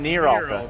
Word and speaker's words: Neeralta: I kept saying Neeralta, but that's It's Neeralta.